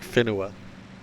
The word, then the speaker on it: whenua: I mean, okay, not just nga, like fe, W-H-E, like whenua.